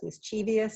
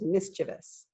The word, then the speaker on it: mischievous: out of our backyard which one is it it is mischievous mischievous mischievious is not a word it is mischievous now we have oh